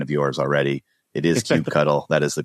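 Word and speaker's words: kubectl: a mission to spread CBE cuddle is the right way to say that so I just want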